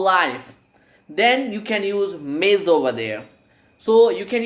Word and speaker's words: Ms: If before we go, actually see, if I talk about females, we have one more title for female, that is MS, and it is pronounced Ms.